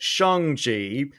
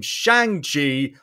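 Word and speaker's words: Shang-Chi: as shangji uh and it is pronounced shonji i'm probably even mispronouncing that but i've been calling him shang chi for way too long i do apologize same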